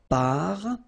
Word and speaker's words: parfum: So it's nasal and it's un. So it really goes in your nose. You don't pronounce the M at all. Un. Okay? So parfum.